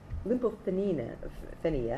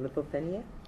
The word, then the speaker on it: lymphopenia: Lymphopenia, and I know I'm mispronouncing that, lymphopenia, thank you, is usually the most